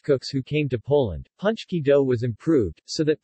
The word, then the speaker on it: pączki: as the last being closest to the polish pronunciation and often write it as punch key ie without the opening hook shaped diacritic this